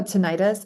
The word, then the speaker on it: tinnitus: Oh, Oh, tinnitus. It's tinnitus. Yeah, I thought I or pronounced it, yes, tinnitus, correct.